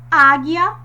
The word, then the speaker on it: águia: Águia. Percebam que o som mais forte é o A em vermelho. águia. Por quê? O acento agudo evidenciou, tornou mais forte esse som.